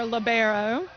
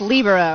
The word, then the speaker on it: libero: that is a Libro or you may hear labero but it's properly pronounced libero right exactly and I I always say libero